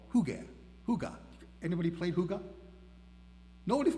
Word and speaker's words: hygge: The Hygge principle, pronounced Hygge, right, just like I'm saying it instead of Hygge, it's spelled H-Y-G-G-E, is a Danish concept